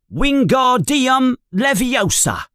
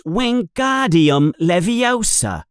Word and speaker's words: Wingardium Leviosa: You're saying it wrong, says Hermione in an impatient voice. It's Wingardium Leviosa. You emphasize the gar.